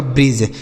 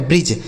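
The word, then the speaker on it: bridge: डी दोस्तों silent होगा। इसे आप नहीं पढ़ेंगे।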